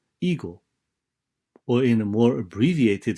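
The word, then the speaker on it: 囲碁: The same words, Weiqi, in Japan is pronounced eagle, or in a more abbreviated fashion, it is simply called Go.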